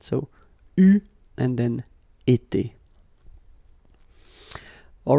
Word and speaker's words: eu: So you write it like that, EU, but then you pronounce it U.